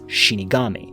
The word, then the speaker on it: Shinigami: are known as death gods, translated from Japanese pronounced originally as Shinigami.